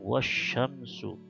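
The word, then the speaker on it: والشمس: Maka bacanya wah ini langsung ke shin. Ya, seolah-olah tidak ada alif lam ini karena dia bintang ketemu matahari tidak kelihatan, jadi bacanya wasyamsu gitu ya.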